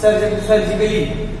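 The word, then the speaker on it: surgically: सर्जिकली, इसका मतलब होता है शल्य चिकित्सा। सर्जिकली कब में देखिए LLY, इसके पहले ए मिल गया तो ए क्या होगा? ये आपका यहाँ पे साइलेंट होगा।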